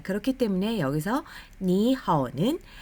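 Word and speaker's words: 你好: 자, 그렇기 때문에 여기서 니하오는 앞에 니를 삼성으로 발음하지 않고 이성으로 발음합니다. 그래서 니하오, 니하오.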